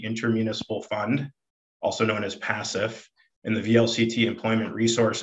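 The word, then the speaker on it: PACIF: property and casualty inter-municipal fund also known as passive in the vlct employment resource and benefits trust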